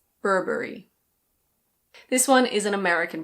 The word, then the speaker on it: Burberry: This one is a British label and in British English it's pronounced Burberry. Burberry. In American English you pronounce the first R so it's Burberry. Burberry.